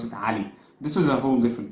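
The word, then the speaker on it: علي: on the accent so in my accent we pronounce it Ali this is a whole different topic anyway and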